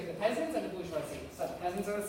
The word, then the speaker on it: bourgeoisie: And then you have the beginning of a new class, the bourgeoisie. Okay, can we say it? Bourgeoisie. Bourgeoisie. In English, if you don't pronounce French words correctly, you sound very dumb.